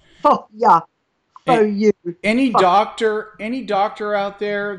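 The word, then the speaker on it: phở: I used to call it pho too, but we have Jenny Lee at our office, and she's Vietnamese, and she says it's pho.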